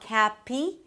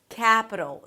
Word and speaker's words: capital: It's not "k(h)a-pee" but "k(h)a-puh". And then finally we have a flap T, that sounds like a D and a dark L - "d'l", "d'l". The dark L is created here so it has this really deep, dark sound and kind of weird - "ul", "d'l". "K(h)a-puh-d'l" - Capital. The "k(h)a" is the primary stress so it's longer and higher in pitch. Capital.